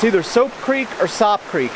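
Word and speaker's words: Sope: it's spelled ope and if you put an s in front of it that's soap so i'm calling this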